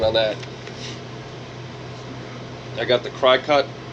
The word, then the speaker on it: Cricut: that I got the cry cut I don't call it the Cricut because it's spelled cry cut I got the Cricut